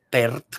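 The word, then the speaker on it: Pärt: compositor que se llamaba arvo pert pero se escribe p a con umlaut son los dos puntitos encima de la RT que escribió muchas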